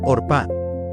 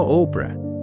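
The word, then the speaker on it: Orpah: Sí, Orpa, no Opra.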